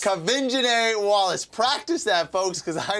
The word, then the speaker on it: Quvenzhané Wallis: It's Quvenzhané Wallis. Quvenzhané Wallis.